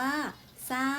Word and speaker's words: สร้าง: เสร็จ อ่าน ว่า เศษ สร้าง อ่าน ว่า สร้าง ข้อ สอบ ไอ เรา มา ดู อักษร ควบ ศ.